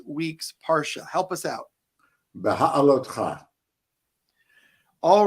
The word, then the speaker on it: Beha'alotcha: So you're going to have to help me again with the pronunciation of this week's Parsha. Help us out. Beha'alotcha. All right. Baha'alotcha.